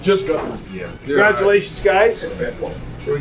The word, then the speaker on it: Guthrie: It's just Guthrie.